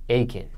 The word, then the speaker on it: Aiken: Now, how do you pronounce the South Carolina city? Aiken County. Aiken.